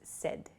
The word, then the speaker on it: said: S S is not correct so please use said it sounds like s d the pronunciation uh but it's said s a i